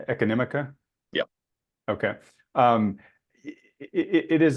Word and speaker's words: Econimica: uh your website um and make sure I pronounce it correctly economica yeah okay um it is a it's a